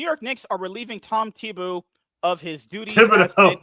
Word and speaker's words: Thibodeau: How do you pronounce his fucking last name? Thibodeau.